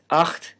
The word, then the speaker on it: acht: and a labial affricate acht which means eight has a velar fricative and ich which means